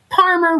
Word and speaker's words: Parmer: And remember, Parmer rhymes with farmer, but starts with a P like Paul.